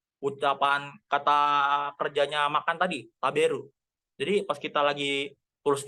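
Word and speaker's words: 食べる: Jadi contoh ada ucapan kata kerjanya makan tadi, taberu. Jadi pas kita lagi tulis di Google taberu, kan ada yang ngomongnya itu didengerin juga. Taberu itu gimana sih ngucapnya yang betul? Taberu, taberu. Jangan sampai taberu gitu kan aneh gitu jadinya kan.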